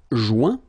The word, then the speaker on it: joint: Joindre, joint. Rejoindre, rejoint. Okay, same thing. Final T not pronounced. Joint. So when you get this O-I-N combination of letters, you get the sound ouin.